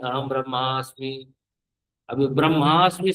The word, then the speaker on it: ब्रह्म: ना, अहम ब्रह्मास्मि, अहम ब्रह्मास्मि। अभी ब्रह्मास्मि से आप लोग उसको ब्रह्मा बोलने लग जाते हैं। उच्चारण गलत कर, ब्रह्म अस्मि। तो उच्चारण बिल्कुल उच्चारण सही से होना चाहिए। ब्रह्म, ब्रह्मा बोल देते हैं।